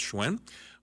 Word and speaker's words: Hsuen: my personal Facebook page hsen that's how you pronounce schwen or and add me